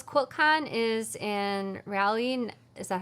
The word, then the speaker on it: Raleigh: Tamara says, QuiltCon is in Raleigh. Is that how you pronounce that? Yeah, Raleigh.